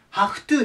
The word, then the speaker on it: have to: なるんですけどまず読み方これ元々 have なんですけど to とくっつくことによってこれハフになりますハフトですハフトで意味がちょっと